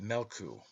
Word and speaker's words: Meolku: Therefore the sun is called Meolku, pronounced Melku, a greyhound.